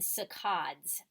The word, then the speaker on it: saccades: kinds of eye movements: fixation eye movements and saccades is how you say it, those eye movements.